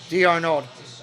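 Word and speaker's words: d'Arnaud: home run last time D Arnold that's how you say it yeah it's French it is Big play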